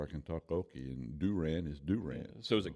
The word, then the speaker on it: Durant: So what took you to Durant?